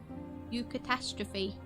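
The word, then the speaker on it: eucatastrophe: you how do you say that U catastrophe you catastrophe I was right what does it mean a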